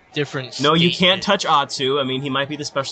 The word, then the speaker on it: Atsu: My name is pronounced Atsu. What did I everybody say? knows. No, I'm not saying that you said it. I'm just saying, like, in general, because I've had, like, a lot of people mispronounce it, especially, like, in the middle of a dance comp. Like, they'll announce me and they'll say Atsu, and I'm like, bruh. So, yeah, it's Atsu. Just throwing that out there.